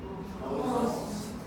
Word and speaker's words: most: So it's different. Because if you say most, if you say must, it's something different that you're saying, okay? So this is most, and this is must.